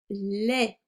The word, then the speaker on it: lait: Du lait. Le T est muet.